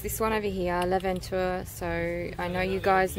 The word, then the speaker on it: L'aventure: L'aventure.